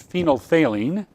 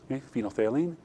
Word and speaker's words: phenolphthalein: one we're using as phenolphthalein it's my favourite NIT word because it's good the second pH is silent phenolphthalein okay and in acid